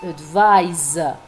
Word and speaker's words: advise: Even uh the pronunciation is different. The noun advice with the s sound. The verb however is advis with the Z sound.